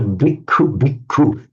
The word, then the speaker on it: bhikkhu: My problem is the double K with the aspirated kahu. So bhikkhu. Yeah, so bhikkhu, but both are aspirated.